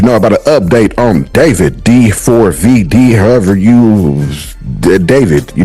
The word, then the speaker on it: D4vd: about an update on David D4vd, however you, David, you know what I'm saying? That's what he say his name, that's how people call him, so I'm gonna call him David, you know what I mean?